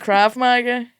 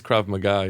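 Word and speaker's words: Krav: Craiga, is it is it craving? It's crav. Yeah, crab magga.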